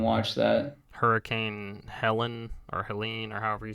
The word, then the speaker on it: Helene: Hurricane Helena. Was that it? Helene. L-E. Hang on, spell that again.